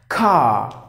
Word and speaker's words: car: letter R for example car you don't simply say car because the letter R a silent the rule is any